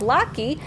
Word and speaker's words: Locky: If you're wondering how to say my name is pronounced as Locky.